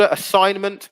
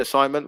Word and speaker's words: assignment: okay so um tilde assignment brilliant brilliant tilde that's another one yeah silent g and assignment well done um when